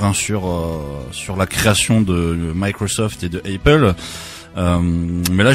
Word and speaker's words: Microsoft: Donc faut savoir que Apple et Microsoft, donc là vous voyez que je les prononce à l'américaine. Microsoft, yeah.